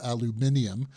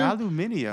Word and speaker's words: aluminium: I'm very impressed with your pronunciation of aluminium, which is actually British. Yes, I mean, where did that too. come from? You got a little Brit in you? Aluminium. Aluminium. No, that's how the Brits say it.